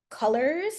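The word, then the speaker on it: Coolors: do um I like this website called colors even though it's spelled coolers um and it's just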